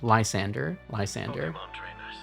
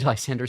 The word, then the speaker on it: Lysandre: I keep going back to here because I keep forgetting how to pronounce his name. Lysandre.